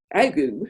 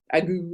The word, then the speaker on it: ague: In the Midwest, the ague, which seems to be the most contested pronunciation in American history, ague or ag, some people say.